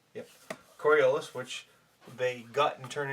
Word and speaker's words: Coriolis: Generations later, a ship arrives, and that ship is the Coriolis. Did I say it right? Yep. Coriolis, which they gut and turn into a space station, but we'll come back to that in a second.